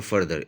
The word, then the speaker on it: further: फिर है फार्दर और फर्दर। इसमें बाकायदा प्रोनाउंसिएशन का फ़र्क है। एक है फार्दर, एक है फर्दर।